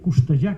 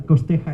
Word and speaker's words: Costeja: España, eh, de de Mario Mario Costoja, que era un señor catalán y la pronunciación es catalana. Esa es, pero ya todo el mundo lo llaman Costeja y ya no no.